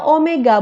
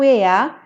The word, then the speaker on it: omega: itu sama dengan Omega ini bacanya Omega Bukan weyya Dengan demikian persamaannya menjadi